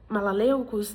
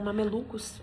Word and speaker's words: mamelucos: Gente, eu fui olhar as minhas anotações pra eu conseguir pronunciar eh, malaleucos e aí eu vi que não era malaleucos, era mamelucos.